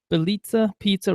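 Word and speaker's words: Bitadze: consider nman bica or Bita Bita Pizza rhymes with pizza Bita um because he's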